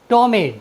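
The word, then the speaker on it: ptomaine: यदि किसी वर्ड में पी के तुरंत बाद एन या टी आए तो हम पी का उच्चारण नहीं करते हैं।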